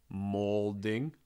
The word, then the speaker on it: molding: the wall we have the molding like an ol sound like an o